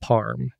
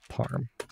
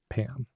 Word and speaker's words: parm: change it to eval parm. And parm is spelled parm with an R, not Pam.